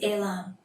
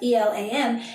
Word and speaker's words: Elam: I'm pronouncing it the Hebrew way, and we'll get to that in just a moment.